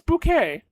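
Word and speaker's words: Bucket: No, no, it is bouquet. How? It's spelled B U C K E T. But it's bouquet.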